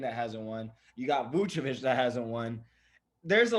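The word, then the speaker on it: Vučević: Can you pronounce it for us real quick? Vucevic.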